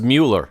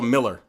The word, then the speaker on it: Mueller: mue which was Mueller I thought it was Mueller they called a Miller it was always how it's pronounced why was it pronounced